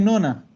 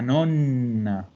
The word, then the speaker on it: nonna: Pero todo el mundo dice nona, la nona. No, es la nonna. Porque ¿qué significaba nona, Ítalo? Novena. Novena. Ah, y ven la importancia de pronunciar una doble, porque si yo digo nonna, es abuela. Si digo nona, es novena.